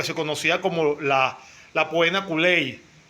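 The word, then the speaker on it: poena cullei: conocía como la la puena culey se pronuncia más o menos así con doble y y era lo que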